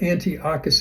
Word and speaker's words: Antiochus: Antiochus, sorry, I'm saying this name different at different times, but Antiochus is how you pronounce it. Antiochus promised apostate Jews, those who violated the covenant,